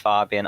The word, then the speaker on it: Fabian: the storm um and i believe it's pronounced fabian unlike the atlantic in 2003 which was pronounced so um philippines have their own ways of pronouncing things as we have or